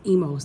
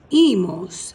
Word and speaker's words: emos: A lot of folks will pronounce this emos. That's incorrect. Letter E in Spanish alphabet makes an A sound. IR verb endings here go O, ace, A, emos. That's how we say emos.